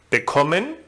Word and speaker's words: bekommen: And in the group of inseparable verbs, the second syllable is stressed, as in bekommen, gewinnen, verkaufen.